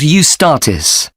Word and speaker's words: Eustatis: there's a performance by a ballet company called eustatis sorry the name is spelt e-u-s-t-a-t-i-s they appeared in last year's festival